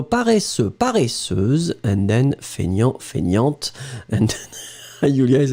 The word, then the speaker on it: feignante: Remember, so masculine you don't pronounce the T, and then feminine form you will pronounce it. So paresseux, paresseuse, and then feignant, feignante, and then Julia is like, I know this one.